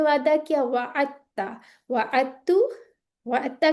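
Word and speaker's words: وعدتّ: तशदीद भी लगी है, तो दाल प्रोनाउंस नहीं होगा, वाअदता नहीं करना, बल्कि ये करीबुल मखरज होने की वजह से इस तरह से प्रोनाउंस होंगे, वाअत्ता, ठीक है।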